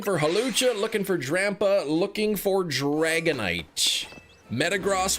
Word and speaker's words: Metagross: Metagross would be awesome too, or Metagross, apparently is pronounced.